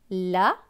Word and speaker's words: l'abeille: L apostrophe. Il se prononce L, ça ne change pas. La lettre A. B avec E-I-L-L-E. E-I-L-L-E se prononce eille. Donc B et eille, beille. Donc ce mot va se lire l'abeille.